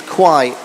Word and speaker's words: Quay: It's not Key, it's Quay.